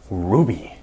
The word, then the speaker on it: RWBY: Today we're going to be talking about a relatively new show, RWB Y, or it's phonetically pronounced, Ruby.